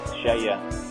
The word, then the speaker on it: Skeie: Well, the company, we pronounce it in Norwegian is like Skeie. Well, in English we'll say it is Skeie.